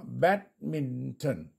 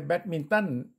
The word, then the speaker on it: badminton: เป็น เ เพราะ ฉะนั้น คำ นี้ อ่าน ว่า Badminton เห็น ม ครับ เนี่ย แล้ว นัก เรียน จะ ออก เสียง ถูก ไม่ ใช่ แบดมินตัน แต่ อ่าน Badminton อ่าน ตาม มิ